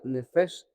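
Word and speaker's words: נפש: Y en el griego se pronuncia nefes, está en el Hebreos 53:14, significa criatura que respira, usado muy ampliamente en el sentido literal.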